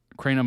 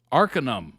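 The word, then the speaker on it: Arcanum: Cranum is pronounced Arinum.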